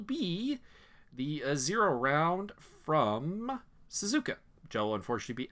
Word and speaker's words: Suzuka: spectator for that race I don't understand how you guys keep mispronouncing Suzuki but okay Suzuka sir my point exactly it's